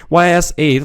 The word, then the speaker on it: Ys: so bad after all pronounced like East without a t y s is a long-running game series of role-playing games that date back to 1987 on the PC 880.